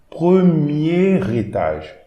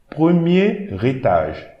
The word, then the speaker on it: premier étage: So here we have this R and the E accent aigu. So we are going to pronounce it like a single. So ré. Premier étage. Premier. Okay, I'm reading this whole word, the first word, like a single word. And I'm going to add an R to the next word.